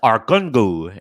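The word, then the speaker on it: Argungu: number 10 is the arkunggu fishing festival as it is described that's arcongu in nigeria how do you spell that a r g u n g u arkhangel our gun is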